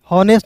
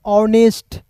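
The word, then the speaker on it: honest: एस टी क्या पढ़ेंगे हनेस्ट नहीं पढ़ेंगे दोस्तों आप सोच रहे हैं गलत सोच रहे हैं इसे पढ़ेंगे ऑनेस्ट क्या पढ़ेंगे ऑनेस्ट यहां पे एच साइलेंट होगा ठीक है तो ए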